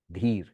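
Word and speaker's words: dhīra: the heroic ones the the d word in many Indian languages is patient steady de rhymes with Ste which means steady or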